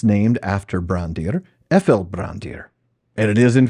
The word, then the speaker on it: Ephel: Now, there, in the entry for how to pronounce PH, the PH letter combination in Sindarin, it's pronounced like the letter F, we read some examples of where it's used.